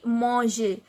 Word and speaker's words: manger: So mang, mange, and we have in the place of er we have to add this accented e, this axo aigu on e. So this pronunciation will be manger.